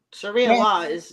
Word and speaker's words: Sharia: Sharia law, Sharia, Sharia.